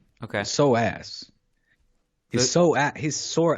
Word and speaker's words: psoas: yes something like that at least in spanish it's the so ass okay so ass he's so at his